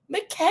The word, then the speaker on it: Mikal: I need to start pronouncing his name right. Mikal.